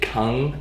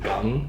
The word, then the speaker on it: kung fu: He said different regions pronounced it kung and others pronounced it gung.